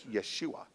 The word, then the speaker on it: Yeshua: Greek translation becomes Jesus but in the in the Hebrew is Yeshua there's a y instead of a j okay and so the